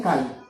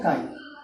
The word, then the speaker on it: chi: और एक बोलते हैं काई। क्या बोलते हैं इसके लिए? इसका बोलते हैं काई, CHI इसकी स्पेलिंग, ठीक है।